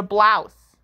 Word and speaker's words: blouse: or a shirt it's a blouse that rhymes with mouse b l o u s e b l o u